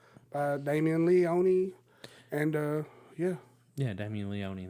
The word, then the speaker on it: Leone: Leone and yeah yeah Demi Leone that's how you pronounce his name and also stay tuned